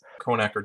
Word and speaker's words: Kronecker: Kronecker Delta.